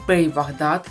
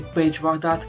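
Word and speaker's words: Pej Vahdat: Из каста сериала «Кости» уже точно определены Пей Вахдат, или Пейдж Вахдат, кому как удобнее, но и так читается, правильно произносится. Он будет обычным постоянным гостем.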